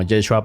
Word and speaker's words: Yeshua: Ahora, en su tiempo en arameo se pronunciaba como Yeshua para abreviarlo, pero todo cambió cuando el Nuevo Testamento fue escrito en griego.